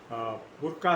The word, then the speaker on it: Bracq: विवाद ये है कि एक अरबिक फिल्म है जिसका नाम है बुर्का सिटी।